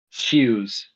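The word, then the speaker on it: Xeoz: zos except here's a little fun fact about Zia I was I threw this idea with James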